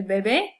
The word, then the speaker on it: bebé: The only thing different is the stress. So the baby drinks, we would say el bebé bebe.